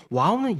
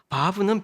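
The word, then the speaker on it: וו: 비읍 바라고 하는데 보면 와우는 이이고 바브는 읍이아요 이게 뭐냐면요 어 우라고 읽기도 하고 브라고 읽기도 합니다 여러분 우리 성경 인물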